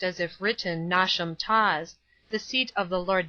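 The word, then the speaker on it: Knotacentinum Towers: place on and around Nat a sentinum Towers pronounced as if written nasham Tas the seat of the Lord nent pronounced as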